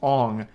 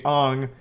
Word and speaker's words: Aang: And everyone already knows this, but his name's not Aang in the movie, it's Ong.